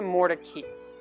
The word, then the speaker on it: Mordecai: And once he lived in Raleigh, the pronunciation of the family name shifted from Mordecai to Moricki.